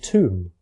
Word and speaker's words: tomb: Similarly, the B at the end of tomb, lamb, and thumb is no longer pronounced, but thimble still has it.